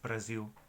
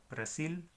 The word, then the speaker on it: Brasil: El país mismo, Brasil, no es tan al punto en portugués, es Brasil. Brasil, Brasil.